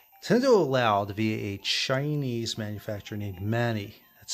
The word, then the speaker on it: Mani: the country via a Chinese manufacturer named Manny that's spelled m-a-n-i to produce and sell the Game